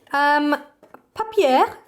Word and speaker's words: Papier: Papier, which is my French pronunciation of this brand, sent me the cutest little set of things the other day.